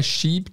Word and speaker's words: sheep: Presta atenção na pronúncia. É sheep. Não, sheep. Não pode ter um i curto porque shape é navio. Tem que alongar um pouco essa vogal aí que tem aí, que é, sheep.